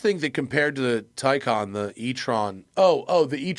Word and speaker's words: Theon: But yeah, Enrico Palazzo wants to know how Tyon is pronounced. It's pronounced TYON. You can say I don't think anyone really gives a if you mispronounce it. And I will say Tan once in a while just for funsies cuz